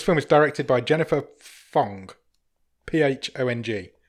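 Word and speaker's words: Phang: So, this film is directed by Jennifer Phong, Phong. Pong. It is Pong because it says on her IMDb that it's pronounced Pong.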